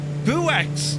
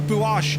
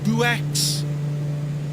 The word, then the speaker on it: Buochs: When you're flying around my place, the place is pronounced, wait, Buochs. Buochs, not Buochs, Buochs.